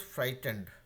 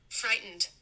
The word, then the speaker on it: frightened: So your first word was frightened. So this is how it is pronounced, okay? Frightened. Frightened.